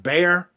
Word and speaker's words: Behar: It's B-A-R, but I think it's pronounced Bear. Bar.